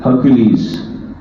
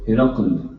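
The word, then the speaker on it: Heraclius: This Hadith Mubarak is about a letter that Aqā wrote to Hercules, or Hercule, or Herakl, the three different pronunciations of his name.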